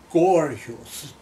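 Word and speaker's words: Korjus: very very hard and her name was melitza gorgeous k-a-r-j-u-s she's polish and uh when mgm did its publicity it said rhymes with gorgeous so i thought lardo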